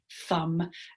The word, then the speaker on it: thumb: Words like thumb, you either say the B on the end or you've got the rule for that irregular word that MB, the B is not usually pronounced.